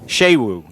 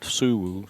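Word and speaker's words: Sewo: I tell you what, if they want Shewu, not Suwu.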